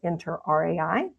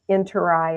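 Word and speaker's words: interRAI: I pronounced it the interai and they said, "No, no, no. It is the interi as in in your eye is how you say it."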